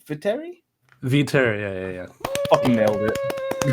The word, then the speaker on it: Viteri: do you say your last name for terry v terry yeah yeah yeah nailed it